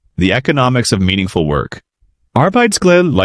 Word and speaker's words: arbejdsglæde: Arbejdsglæde, like a Danish word pronounced a-r-b-e-i-d-s-g-l-a-e-d-e, means work joy.